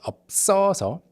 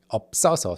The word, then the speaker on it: 없어서: 없어서. The pitch is like kind of higher in the second syllable. 없어서.